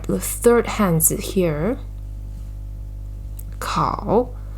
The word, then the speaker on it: 烤: And the right side, 烤, of word 考试, right, shows the pronunciation. Together, pronunciation is also 烤, and the meaning is toast, bake, or roast.